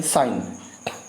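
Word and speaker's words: sign: साइन, जी साइलेंट है, जी साइलेंट है।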